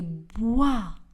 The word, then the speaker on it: bois: Je marche dans les bois. Le S dans le mot dans ne sera pas prononcé. Et le S dans le mot bois ne sera pas également prononcé.